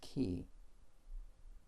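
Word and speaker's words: כִּי: back to the same Hebrew word which is pronounced key although this is an extremely common Hebrew particle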